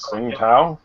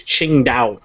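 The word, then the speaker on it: Tsingtao: about sing tow now the correct pronunciation just for Matt because I know Matt likes to hear this but it's I think it's Ching da yeah Ching yeah Ching da Ching da not that I care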